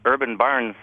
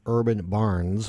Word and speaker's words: Urban Barns: not pronouncing it properly Urban barns plural Foods uh let's talk